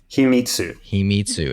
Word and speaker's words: Himitsu: Himitsu, is that how you say it? Himitsu, a secret storage system.